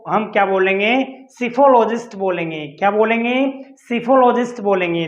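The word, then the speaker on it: psephologist: It means totally जो analysis होता है उसको, उसके स्टडी को हम क्या बोलेंगे, सिफोलॉजिस्ट बोलेंगे। क्या बोलेंगे, सिफोलॉजिस्ट बोलेंगे। देखिए इसमें पी साइलेंट रहेगा।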